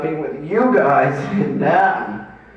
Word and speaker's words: Nam: He said, I was always guilty of not being with you guys in NAM. Is that how you say it? NAM as in spam, as in thank you, ma'am?